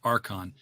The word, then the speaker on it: Archon: It's spelled Archon, but it's pronounced Archon because it's in St. Louis. So the Arch is a big thing.